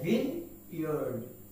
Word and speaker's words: vineyard: না, এর উচ্চারণ হচ্ছে VIN, vineyard. E is totally silent, and that means the pronunciation is vineyard, not vineyard.